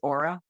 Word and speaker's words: Ora: I work with Americans, and I just introduced myself as Aura. I just completely, give up on pronouncing it in the Hebrew.